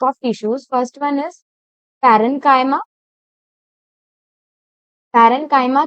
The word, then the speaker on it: parenchyma: Some students pronounce it like chyma, but it's parenchyma, collenchyma, and the last one is sclerenchyma.